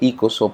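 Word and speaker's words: οἶκος: la biblia se utiliza la palabra oikos se dice y coso vamos a decir oikos porque se escribe para referirse a la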